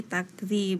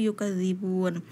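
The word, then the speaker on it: يُكَذِّبُونَ: Tadi Fakih menyebutkan fi takdzib, itu kan surah Al-Buruj. Seharusnya yang benar itu balil ladzina kafaru yukadzibun.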